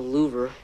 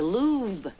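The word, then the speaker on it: Louvre: them in the hallway not the louver hello that's pronounced the lube oh well I guess I miss about the wrong in my history book your mr.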